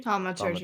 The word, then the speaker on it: Thaumaturgy: I can't pronounce this. Thaumaturgy. Thaumaturgy? Thaumaturgy.